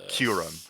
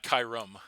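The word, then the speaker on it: Kyurem: That That's how you say it. It's like cure. Curum. Love it. It's not Kyum.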